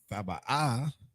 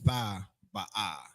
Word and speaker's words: Thaba'ah: So you got Tha Ba'ah. So sometimes if I was to write this out in the Hebrew, you have your Tha, then you have your Ba, and then you have your Ah. So if this was connected, it would just be Thaba, and we would drop an A. But since it's not connected, it's all, you pronounce it separately.